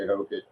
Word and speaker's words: Hokit: I'm just gonna say Hokit. I think that's how you say it.